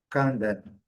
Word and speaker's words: condemn: Condemn, que rigorosamente igual, segunda sílaba é forte, está aqui marcada.